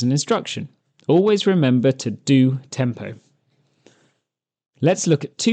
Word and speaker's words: DO: which I will also refer to as DO, pronounced do.